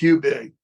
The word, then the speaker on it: Hubig: a what is it hiig and it's it's pronounced hubig but it's a little fried pie that you